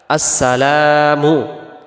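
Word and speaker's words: السلام: আসেন দ্বিতীয়টা আসসালামু আলাইকা আসসালামু এখানে লামের পরে যে আলিফটা আছে এটাকে এক আলিফ টান দিতে হবে আমরা যদি এক আলিফ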